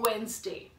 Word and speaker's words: Wednesday: is not redness there you do not have to go by the spellings for the wood you have to call it to Wednesday right that is the